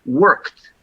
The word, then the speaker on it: worked: E quando tem uma sílaba, muitas vezes é worked, né? Worked. He worked hard. I worked, né? T de tatu.